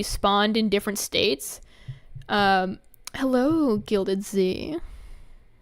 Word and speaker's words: Gilded Z: Hello, Gilded Z. Or Gilded Zed. I remember I read on Twitter that's how you pronounce it.